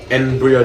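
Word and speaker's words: N. Brio: Embryo tokens. That's Cortex's assistant in this game, and... Spell it? His name? N, as in just a letter, yep. .BRIO. It's a pun. Okay. Like embryo.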